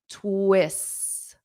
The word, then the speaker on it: twists: So I say plot twists plot twists twists twists. Now notice this s ts native speakers including myself we generally just drop the t because it's a difficult sound to pronounce. So plot twists twists twists.